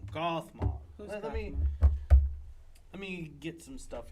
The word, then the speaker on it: Gothmog: gothmog that's his name I was I was pronouncing it wrong gothmog let me get some stuff here who's gothmog